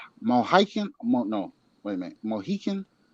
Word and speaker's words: Mohican: Mohican? How you say that? Eagle? You're saying it right.